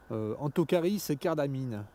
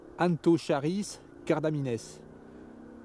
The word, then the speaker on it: Anthocharis cardamines: Les véritables prononciations c'est Anthocharis cardamines. Parce qu'en fait en latin tous les lettres se prononcent. Donc on différencie le A du N, de Anthocharis. Donc on dit Anthocharis. Et cardamine prend un S, donc on doit dire Anthocharis cardamines.